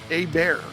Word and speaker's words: Hebert: I get confused on that because growing up, there was a quarterback had the same spelling last name, but we called him Hebert, the French pronunciation of it.